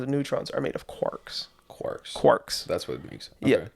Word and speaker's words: quark: So quarks are uh spell that. Q U A R K. Okay. So not quirs quarks. Quarks.